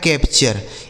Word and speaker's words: capture: आगे देखिए लिखा है CAPTURE, तो CA से हो जाएगा दोस्तों कै, ठीक है। P से हो गया प, और TURE का उच्चारण क्या हो गया? चर, यह लिखा गया है कैप्चर। इसे क्या पढ़ा जाएगा? कैप्चर।